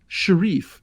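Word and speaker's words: Shirriff: named lotho the corrupt Sheriff or Sharif if you're pronouncing it as it's spelled um whenever a player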